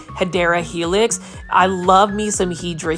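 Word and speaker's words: Hedera helix: want to say it the correct way to say it is hadera Helix for those that are new to the channel I mispronounce it by saying hedra Helix because it is a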